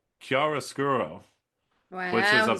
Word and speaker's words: chiaroscuro: It's called chiaroscuro, which is Wow, he said it right.